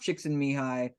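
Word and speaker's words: Csikszentmihalyi: basement and she had us thinking about uh chicks and mihai's theory of flow and how to get into flow and uh it's pronounced chicks in mihai but it's spelled like so there you go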